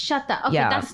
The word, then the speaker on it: Sweta: It's not Sweta, but it should be, because that's how it's spelled. Sweta, yeah. No, it's Sweta. It's Sweta.